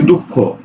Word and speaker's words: দুঃখ: করি যেমন দেখো বলছে দুঃখ দেখো তো দুঃখ এর উচ্চারণ কি হয় উচ্চারণ হয় দুঃখ খ ওকারে খু দুঃখ কিন্তু যখন এই যে